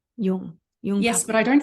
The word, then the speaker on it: Jung: But before we dive in, I know before you had a beautiful quote from young Pablo, I think last time you were on, but is that how you say his name? Jung.